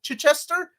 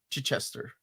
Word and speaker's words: Chichester: that's what I said Chai Chester said say it like hit hit Chester hit Chester with no Gap in the middle hit Chester CH Chester Chester ch Chester or still chai chai so like the T chai instead of emphasizing um the first syllable Chichester you're putting the emphasis on the wrong syllable I'm from Peru I